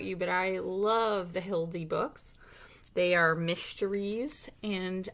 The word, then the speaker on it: Hilde: case ufo spotted by hildy with matthew liziak illustrated by joan louv reedshoff introduction hi my name is hildy it rhymes with bildy i may be only